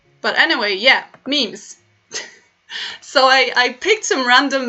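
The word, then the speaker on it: memy: So let me just say that memes are pronounced meme in Polish, in the plural form, and then it's mem when it's a single meme.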